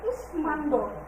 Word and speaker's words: কুষ্মাণ্ড: যেমন কুষ্মাণ্ড, কুষ্মাণ্ড এটার উচ্চারণটা আমরা কিভাবে করবো?